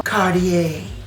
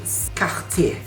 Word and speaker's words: Cartier: Kita bisa melafalkannya dengan versi dari Marilyn Monroe, Cartier. Tapi jika kamu ingin melafalkannya dengan pelafalan Prancis, Cartier. R seperti biasa dikumur.